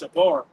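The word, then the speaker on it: שבר: Okay, that word broken there in the Hebrew is pronounced shabar.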